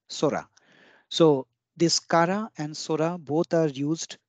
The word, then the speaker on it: 空: and it was and it's pronounced as Sora when it is used as Sky Sora so this Kara and Surah both are